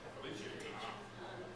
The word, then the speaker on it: Felice: It sounds German. It's actually Italian. Felice.